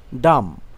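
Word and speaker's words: dumb: ক্রাম ক্রাম অর্থ ছোট টুকরো ক্ষুদ্র টুকরো করা ডাম ডাম অর্থ বোবা বাঘ শক্তিহীন বোবা হওয়া জ্যাম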